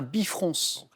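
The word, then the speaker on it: bifrons: as deux visages opposés c'est un bifronce avec le S qui se prononce à la fin en archéologie comment nomme-t-on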